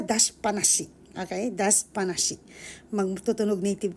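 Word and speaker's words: 出しっぱなし: Actually, may dashi siya, pero pag gusto nyo mabigkas na maganda, magtunog native kayo, dashi panashi.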